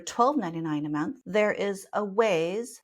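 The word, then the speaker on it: Awayz: a month there is a ways that's spelled a-w-a-y-z they just started with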